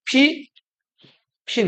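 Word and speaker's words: Pippin: 자, 근데 요거를 영어로 쓰면은 그냥 요렇게 읽어요. 피 핀 이렇게 읽는다고.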